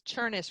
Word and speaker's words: Chemis: amazing job so it's churnis rhymes with furnace and most people don't